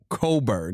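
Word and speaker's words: Cockburn: He single-handedly 42 and 14 sent Kofi Coburn, even though when you look up how it's spelled, it's not Coburn.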